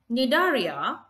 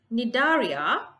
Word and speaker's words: Cnidaria: Cnidaria, C is silent here, Annelida, Mollusca and Arthropoda. The first group is Cnidaria. The animals belong to Cnidaria are predators and they live in water.